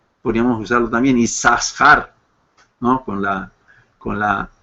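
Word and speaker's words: יששכר: por eso es que el nombre se pronuncia como si fuera una sola Shin sí como isar y no yasar podríamos usarlo también isar no con la con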